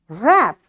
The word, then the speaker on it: wrap: Whenever W is followed by R, this W will be a silent letter in that word.